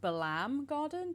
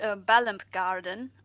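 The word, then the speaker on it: Balamb Garden: This one is, I think it's pronounced Balam Garden. Did I pronounce that correctly? It is Balamp Garden.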